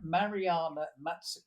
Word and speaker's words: Mariana: is a there's a professor lady I've just pronounced her name Mariana yes that's it that's a thank you for